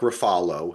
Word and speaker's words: Ruffalo: the reason why Mark Ruffalo, as I like to pronounce it the correct Italian way, give props to it.